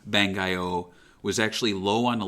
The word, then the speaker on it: Bangai-O: as you remember the the Japanese name bengio is spelled uh b-a-n-g-a-i-o-h so it's phonetic there um whereas the English